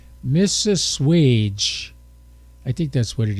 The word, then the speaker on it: Mississauga: It's Mississauga.